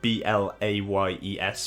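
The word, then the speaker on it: Blaye: uh the blay region spelt b-l-a-y-e-s but pronounced blay um i didn't know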